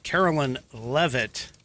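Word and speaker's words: Karoline Leavitt: So I guess Carolyn Leavitt is how it's pronounced.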